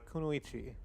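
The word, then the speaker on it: kunoichi: Uh, Kunuichi. Oh, you're not supposed to pronounce the last eye on it.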